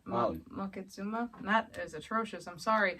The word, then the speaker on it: Moctezuma: Like, I thought it was Montezuma, but it's not. Moctezuma?